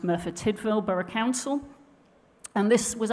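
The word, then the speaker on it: Merthyr Tydfil: England and Wales uh Churchill and it's actually pronounced mura tidel burough Council and this was actually a case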